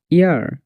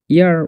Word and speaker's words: heir: HOUR hour, HEIR ইয়ার, ইয়ার উচ্চারণ হবে এখানে ইয়ার।